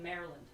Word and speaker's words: Maryland: Ryan says, we say Maryland. Maryland. M-A-R-E-land. Maryland. Maryland. Yeah. How like, else would you say it? You don't say it Maryland. You know what I mean? Like Mary or Mara. It's more like two words.